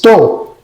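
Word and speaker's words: טוב: En el hebreo es to, se escribe T-O-B pequeña, que es completo y correcto.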